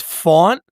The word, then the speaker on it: Faunt: It's Faunt. Like the word like haunt with an F and then Leroy.